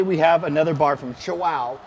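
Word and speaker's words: Chuao: So today we have another bar from Chihuahua, because remember that's how you pronounce it, C-H-U-A-O, Chihuahua, and it's their firecracker bar.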